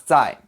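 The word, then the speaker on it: 再: again I'm just kidding so how do you pronounce die we can break this up into constants and vowels again the vowel sound is just like the English I sound the heart I I and the Z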